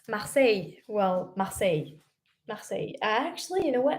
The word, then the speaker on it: Marseille: How do you pronounce Marseille? Well, Marseille.